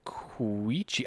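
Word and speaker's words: Quechee: Nature walk / hike in the Queechy Gorge, Tissue Cat near Hartford, Vermont. I don't know if I said that right. My family and I went to a place called Queechy.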